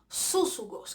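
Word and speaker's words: σύζυγος: Súsugos, que es la palabra que se usa para compañero en este verso de Filipenses 4:3. La pronunciación es súsugo y la derivación viene del 4801 del Strong, ¿verdad?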